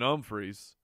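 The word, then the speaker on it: Humphries: was out snapped by Adam Humphreys pronounced with an ohm freeze two weeks ago when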